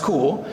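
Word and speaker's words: Kuhl: is Dr cool because her last name is spelled k-u-h-l and it's pronounced cool so Dr cool has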